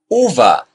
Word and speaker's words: uva: Uva. Similar to rude. Say it brief.